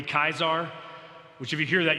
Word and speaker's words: Caesar: So we say Caesar salad, it would be Kaisar, which if you hear that, you know why the Russian rulers are called what they're called.